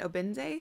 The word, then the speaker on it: Obinze: The narrator pronounced the main character's name is Ifemelu and Obinze, so I think I might try saying it